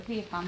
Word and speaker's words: Villafan: and so I said your name is a viaan that's how you pronounce it um but you've